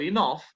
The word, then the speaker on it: enough: Pero una que otra palabra como tough o enough hacen que la GH suene como F.